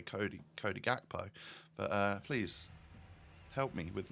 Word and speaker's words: Cody Gakpo: Oh dear, we get a Chodi Hakpo, as I've heard some commentators call him. Is that how you pronounce it, my Dutchies? Chodi Hakpo? It seems a bit weird. I would say Cody Gakpo.